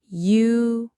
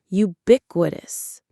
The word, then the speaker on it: ubiquitous: Ubiquitous. Ubiquitous. The stress is on that second syllable, bic. Ubiquitous.